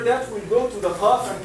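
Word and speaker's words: قاف: And qaf and kaf, they are really having the same point of articulation. But you will find if you try to pronounce that qaf is preceding kaf a little bit. Okay? The points of articulation, the place of the qaf is a little bit behind kaf.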